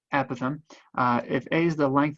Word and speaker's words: apothem: So if S is the length of a side, A is the length of the apothem. I just did it, I said it wrong, apothem.